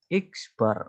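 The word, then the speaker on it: x̄: cara menghitungnya rata-rata hitung X bar nah ini bacanya X Bar adalah jumlahan Sigma Oke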